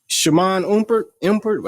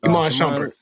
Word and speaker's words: Iman Shumpert: Shaman Umpert. I forgot it how you say it. Is that how you say the name? Iman Shumpert. Iman Shumpert. Yeah, I said it backwards.